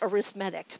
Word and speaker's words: arithmetic: And again, I suppose I should remind everybody it is supposed to be pronounced arithmetic, but arithmetic just makes more sense.